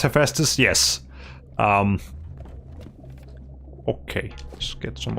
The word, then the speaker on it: Hephaestus: That's how you pronounce Hephaestus?